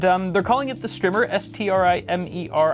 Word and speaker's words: Strimer: And they're calling it the Strimmer, S-T-R-I-M-E-R. I feel like there should be 2 M's in that word if it's pronounced Strimmer. Strimer? Strimer just doesn't roll off the tongue.